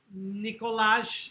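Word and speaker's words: Nikolaj: What country does Charles Boyle's adoptive son, Nicolas, it's pronounced, come from?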